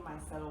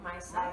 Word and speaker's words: micellar: So after you finish using your wash, then use your micellar water again. Yeah. So that way it gets everything off. How do you say it? Micellar. Micellar.